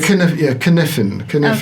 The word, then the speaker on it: Cynefin: Cynefin, or how do you pronounce it? Cynefin.